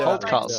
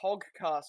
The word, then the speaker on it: Holdcast: Yes, Yeah, Holdcast. That makes sense. No, the way you pronounce it sounded like Hogcast, and I was just thinking, what the fuck's going on?